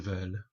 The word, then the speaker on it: veulent: Vouloir, to want: je veux, tu veux, il, elle, on veut, nous voulons, vous voulez, il, elles veulent. Remember again, don't pronounce that T on the end.